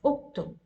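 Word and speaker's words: اكتب: How do I know I should read U? Because 1, 2, and 3 there is a dhamma. So you need to pronounce as uktub.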